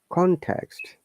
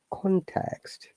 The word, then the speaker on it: context: Okay, context. Now, if you remember, if it is a bisyllable, we all stress on the first word, context. When it's noun, if it's verb, we stress the second word, context.